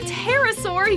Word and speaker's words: pterosaur: it's tricera bottom why can't you hear a pterosaur using the bathroom because the p is silent okay roberta i think